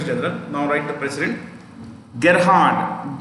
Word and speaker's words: Gerhard: dallas is secretary general now write the president gerhard g e r h a r d g